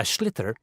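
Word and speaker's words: sliotar: this ball called a schlitter that's s-l-i-o-t-a-r so it's not spelt the way it's pronounced you hit it into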